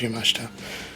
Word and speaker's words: Yamashita: I think it's pronounced Yamashita.